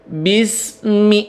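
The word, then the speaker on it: بِسْمِ: memantul di situ ya itu tadi lidahnya ke atas bis bis nah lembut ya Bismi Nah baru dilepas B samaan dengan pengucapan huruf mim Bismillahi Bismillahirrahmanirrahim nah kemudian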